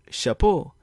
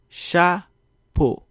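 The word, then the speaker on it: chapo: begins with an accent my pronounce this as chapeau but a more proper pronunciation is sha puh notice how each syllable or sound is firm and phonetic chapeau what about this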